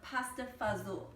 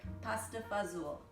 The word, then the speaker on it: pasta fazool: i have this delicious we call it pasta fazel now that's how we say it our every family might pronounce a little differently but that's the narciso philippine family would say pasta fazool and you knew something